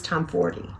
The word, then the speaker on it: Tomforde: Tomforde, then the next one says Liz Tomforde. And then if you go anywhere online, Google any of the socials, they'll say it's Liz Tomforde. And so I keep saying it that way. Supposedly that's proper, how you're supposed to say her last name.